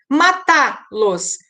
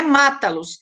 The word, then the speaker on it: matá-los: Matá-los, não é mata-los, é matá-los. Então, aqui, com T, forma a sílaba que tem uma pronúncia mais forte, né?